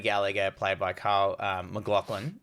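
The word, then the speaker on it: MacLachlan: played by carl uh mclaughlin i thought you say his name like i think yeah mclaughlin yeah yeah so if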